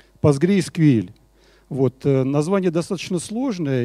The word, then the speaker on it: PostgreSQL: Правильное произношение вот этой базы данных – одно из самых, наверное, сложных названий – PostgreSQL.